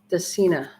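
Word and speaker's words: Dracaena: Dacina. It's pronounced Dacina Janet Craig Compacta.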